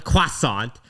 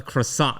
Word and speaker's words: croissant: sounds like what it you don't call it a quasant, you call it a croissant. I say quasant.